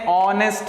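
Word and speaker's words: honest: और क्योंकि यहां पर एक होने के बावजूद मैच साइलेंट हो जाता है और इसको हम पढ़ते हैं ऑनेस्ट मैन और और जो सूंड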